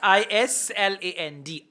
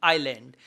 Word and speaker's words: island: a n d yes i s l a n d Island s is silent okay so the answer